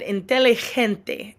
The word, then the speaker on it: inteligente: You'll notice when I said inteligente, look down at on the right-hand side, the third column at the very bottom. The letter G is pronounced like H, okay?